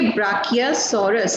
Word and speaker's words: Brachiosaurus: द ब्राकियोसॉरस, सबको बोलना है मेरे साथ में। इट इज थोड़ी little bit typical spelling, a big spelling, तो इसको हाफ हाफ करके BRACHIOSAURUS, ब्राकियोसॉरस। तो आप बोलोगे ब्राकियोसॉरस।